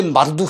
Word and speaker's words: 마르둑: 그 신들 가운데 마르둑 신이 있어요. 말뚝이라고 해도 됩니다. 줄여서 발음하면 말뚝 신이에요.